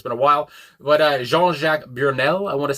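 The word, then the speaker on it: Jean-Jacques: say his name and he said it very French and I did take French uh a long time ago but it's been again it's been a while but uh Jeanjac Bjernell I want to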